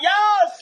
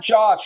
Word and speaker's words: Jos: Yas. Yas Verstappen, not Josh.